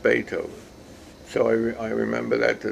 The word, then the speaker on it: Beethoven: uh who wrote something i said be co bethoven you know that's how you pronounce it and she said no it's pronounced beethoven so i remember that to this day that